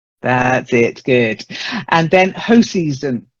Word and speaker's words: Hoseason: And then hoseason, not hoseason, hoseason. Hoseason? Yeah, I'm pretty certain it's that because there is a company called Hoseasons, like a holiday company.